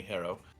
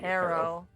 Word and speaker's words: Harrow: can just call me hero hiro how do you spell that h-a-r-r-o-w arrow thank you like the bird like the experience yeah like a harrowing oh it's hair i